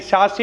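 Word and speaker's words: Sachse: जो भी पढ़ लो एस ए सी एच एस ई शश मोहर थ्योरी हो गया अलग-अलग तरीके से लोग प्रोनाउंस करते हैं तो शसे मोहर जो थ्योरी है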